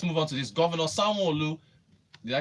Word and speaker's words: Sanwo-Olu: Governor Sanwo-Olu, did I pronounce it correctly? Sanwo-Olu.